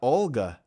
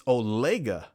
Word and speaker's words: Olega: we're wrong it's not it's not Olga it's olega that's how I pronounce it olega olega is uh olega